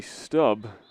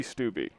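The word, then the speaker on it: Stubbe: forward and that's cody stubb i believe that's how it's pronounced it's one of those borderline ones s-t-u-b-b-e i think that's stub could be stubby i'm gonna call it stub stubble the one who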